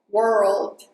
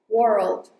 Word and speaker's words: world: And this is not a very easy word: "world" because you have to mix R and L together world And also connect "if" with "it".